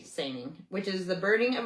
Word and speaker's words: saining: The kelps carried out a very similar practice called sing. That's spelled s a i n i n g. Sing which is the burning of herbal smoke with